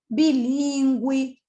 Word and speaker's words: bilíngue: Você continua pronunciando do mesmo jeito, tá? É o que eu disse. A mudança é na ortografia, na escrita, não na fala. Então, ó, permanece a pronúncia igual.